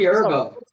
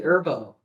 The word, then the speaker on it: Herbo: It's also G Herbo. The H is silent, bro. What? The H is silent. It's G Herbo.